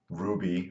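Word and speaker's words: RWBY: up on Friday and Ruby rwb why I guess it's supposed to be pronounced ruby it's an anime I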